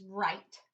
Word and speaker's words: write: our first word is right let's think of the phonemes we have we have ver I now we know that the e makes that I say its name but that W is silent when we see the